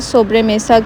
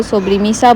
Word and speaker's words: sobremesa: टू be very honest, कोई जो है ना सोब्रे मेसा को सोब्री मीसा बोलता है, कोई सोब्रो मीसा बोलता है, बट मैंने जब इसकी प्रोनाउंसिएशन देखी तो इट्स सोब्रे मेसा, और ये एक स्पेनिश